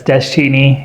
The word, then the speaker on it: Deschine: That's Deschini and that's Navajo origin pronounced Deschini is a silent. There's a T in there, but it's not listed. Interesting. Yeah. So, it's desi.